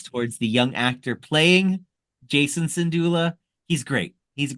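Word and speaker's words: Jacen: of these comments towards the young actor playing Jason syndulla he's great he's a great little kid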